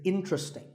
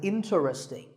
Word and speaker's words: interesting: word number 11 is interesting this is mispronounced sometimes as interesting but there are only three syllables inting and the stress is on in so the word is interesting number 12 is Hotel